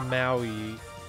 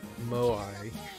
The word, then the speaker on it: moai: we go what is that a cat a maui what okay did i pronounce that right by the way i'll have